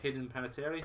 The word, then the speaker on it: Hayden Panettiere: Two Souls had Ellen Page, but Until Dawn has Hayden Panettiere from Heroes. I've probably Yes.